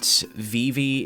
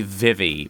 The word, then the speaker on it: Vivi: on you Vivi sure somebody pointed out earlier that VV is the Kingdom Hearts 2 pronunciation and that makes a Canon I prefer to say Vivi but I mean can't